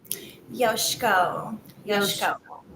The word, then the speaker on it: Yoshieko: saying your last name correctly how do we pronounce it yoshiko okay okay perfect yoshiko well again thank